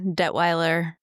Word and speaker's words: Dettwiler: Yeah, Dettwiler is the Americanized version. It's technically Swiss, so you'd say it in Swiss German.